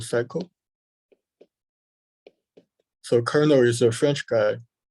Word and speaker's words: Carnot: that is called the kernel cycle so colonel is a french guy he's a french guy so i think the t is silent and this is a